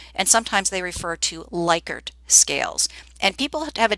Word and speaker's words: Likert: trivia here for you the actual pronunciation is Likert so the gentleman who